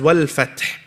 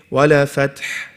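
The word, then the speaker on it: وَالْفَتْحُ: Here, this one is a bit difficult, because the first thing is the lam is not a qalqalah letter. So if you go too fast, what are you going to say? Wala fath, and you're going to do a bouncing sound. No. Hold on to it. Wal fath, wal, okay?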